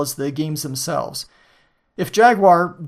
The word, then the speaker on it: Jaguar: the games themselves if Jaguar Jaguar the English pronunciation as I am English prices weren't so high